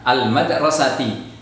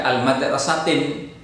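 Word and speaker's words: المدرسةِ: Ya, al madrasati, tidak al madrasatin. Kenapa? Iya, karena ada alif lamnya.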